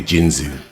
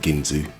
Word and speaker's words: Ginzu: Or Ginzy. It's probably Ginzu, to be honest, not Ginzy. Anyway, um pronunciations aside, yeah.